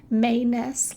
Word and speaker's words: Mains: name is dr manus it's spelled mains but pronounced mayness like extra may so the month of may then ness after that manus that's how it's pronounced so do introduce yourself